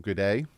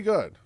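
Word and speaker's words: Goode: is Cameron good who for the longest time I called him good day like I'm an Australian sailor because he's his name is spelled g g o o d e and my phonetic brain was like good with an e a good a I'm dumb I obviously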